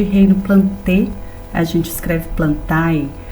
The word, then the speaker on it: Plantae: O reino das plantas é chamado de reino Plantae, a gente escreve Plantae, mas vocês se lembram bem que é do latim esse termo, então a pronúncia fica algo parecido com Plantae.